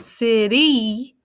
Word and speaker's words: city: this word tricky is if you look at the last letter y this week we've been practicing y says i if there's nothing after it right open syllable y says ah but if you listen to this word city you hear e at the end of that word so that makes it